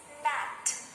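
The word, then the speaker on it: gnat: is silent nat here we can only hear the sound of letter n which is and there is no sound of letter g so the word is nat nat no no champagne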